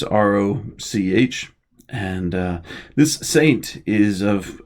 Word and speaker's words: Roch: rope or oftentimes Rocco even sometimes Rocco or as I really prefer it the rock st. Roch as its pronounced or I guess I should say it's it's ro CH and this st.